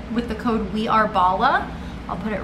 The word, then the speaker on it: Bala: excited thank you bala i think it's bala bala bala b-a-l-a is how it is pronounced but these are the